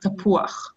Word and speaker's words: tapuach: Yes, chet, if you see vav and chet, then it's uach. It's not uch, it's uach, tapuach. There are other words in Hebrew when that happens, so fantastic.